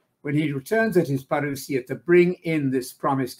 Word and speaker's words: parousia: With him, when he returns at his parousia, that's the Greek word, and I'm using the modern Greek pronunciation for Greek words if I use them, because our Greek-speaking friends enjoy that. When he returns at his parousia to bring in this